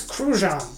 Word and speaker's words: Cruzan: And yes, it pronounces Cruzan. Google it yourself.